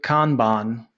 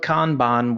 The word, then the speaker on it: Kanban: who asks, how would Kanban who Tim also suggested a pronunciation, Yep. Khan and then Ban, kind of the same way, Bhan. Yep. So how would Kanban work with multiple projects running at the same time?